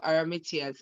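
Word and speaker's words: Arimathea: were pharisees and um and um joseph of aramatius that's how it's pronounced joseph aramitias actually was a pharisee if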